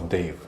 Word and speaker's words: Dev: Well, it really is Dev, and when I write my name, I still write it D-E-V, Dev. But as you know, when Indians pronounce Dev, it sounds a little like Dave to Australians.